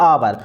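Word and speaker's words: hour: have filling the blanks अब इसको हावन नहीं पढ़ते अपन ए हावर नहीं होता है इसको क्या पढ़ते हैं आवर और आवर का उच्चारण आ रहा है आनार से तो क्या लिखें इसमें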